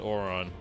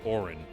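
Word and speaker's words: Auron: No, I pronounce it Oron, but the game pronounces it Orin.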